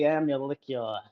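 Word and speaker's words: Amalickiah: The middle vowel or the middle syllable is a meow sound like a cat makes, just so everyone knows if you want to do it right.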